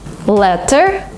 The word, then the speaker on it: letter: In American English, if you have a letter T in the middle of a word, sometimes you pronounce it as D. Letter, letter. Letter? Because it's faster, because it's smoother.